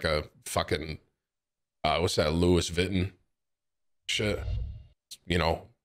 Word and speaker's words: Vuitton: I know it's pronounced Vuitton.